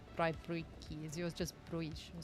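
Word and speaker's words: braai: I know you're Dutch, so yours is different, but in South Africa it's Brii.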